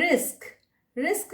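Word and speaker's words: risk: रिस्क जो है इसमें छोटी ए की मात्रा लगती है, रिस्क, और पहले स का उच्चारण आता है, बाद में क का उच्चारण आता है, तो रिस्क में कुछ लोग गलती से रिक्स बोल देते हैं, वो नहीं होगा, रिस्क।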